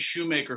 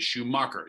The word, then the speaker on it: Shoemaker: instagram by the way it's craig shoemaker folks not craig schumacher hello mr schumacher there's